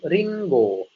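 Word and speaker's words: りんご: Apel ini bahasa Jepangnya itu ringo. Ringo. Nah, di sini ada huruf ko yang diberikan tenten sehingga dibacanya menjadi go minasan.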